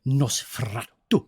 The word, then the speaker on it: Nosferatu: It's Nosferatu. That's how you actually pronounce it.